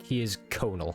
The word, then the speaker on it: Conall: Conal, like it's spelled No, it's not spelled Conall. Like, I think it's an Irish first name.